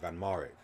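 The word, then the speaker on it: van Marwijk: already in this stream fan Marek that's the that's how you pronounce it van mourik okay if anything Australia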